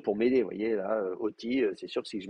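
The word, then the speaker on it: אותי: bah, c'est facile, Oti, on sait que c'est Oti et pas Iti.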